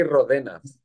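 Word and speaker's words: Ródenas: Oh, I understand that the R letter, it's very difficult to pronounce for Anglo-Saxons, so I don't really care, you know what I mean.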